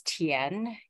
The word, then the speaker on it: Tien: So the correct pronunciation of my last name is Tien, and it means field in Chinese.